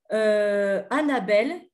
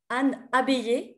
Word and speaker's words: Anne Abeille: Voilà comment Annabelle, professeure Anne Abeille, pardon, donc ça s'écrit ABEI2LE, qui est professeure de l'université à l'université Paris-Diderot, professeure de linguistique.